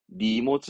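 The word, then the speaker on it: 荷物: 이때 발음은 원래 하는 카 하는데 니모즈 합니다. 니모즈 짐을 말하는 니모즈.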